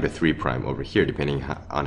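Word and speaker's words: 3′: So again five apostrophe is is pronounced five prime and three apostrophe is pronounced three prime ends.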